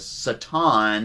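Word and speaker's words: שָׂטָן: Satan is actually the correct way to pronounce it in Hebrew, and a Satan is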